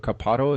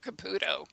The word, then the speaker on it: Caputo: So you call this new book Communicating with the Other Side, like Teresa Caputo? Is that how you pronounce the name? No, Caputo. Caputo, the Long Island medium.